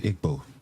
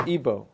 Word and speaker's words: Igbo: The Igbo, yep. Or Igbo, pronounced either way.